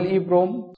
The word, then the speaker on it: EEPROM: Double EEPROM इसको pronounce ऐसे करते हैं EEPROM, stands for electrically erasable programmable read only memory.